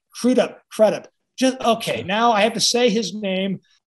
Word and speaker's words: Crudup: No, Crudup, Crudup, Crudup.